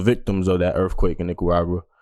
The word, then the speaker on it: Nicaragua: At that time, Nicaragua. I probably mispronounced that crazy, but nah, you said it right.